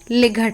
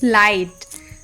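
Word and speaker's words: light: आई जी एच टी लिगर सोचो अगर इसे लिगर पढ़ते मे बी पहले पढ़ते भी हो बट इट्स लाइट अ लाइट हाई नाउ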